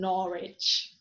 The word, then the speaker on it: Norwich: answer uh sword who hero it is not pronounced when it is followed by ah as in wrist right wrong and greenwich and norwich so practice makes perfect let's do it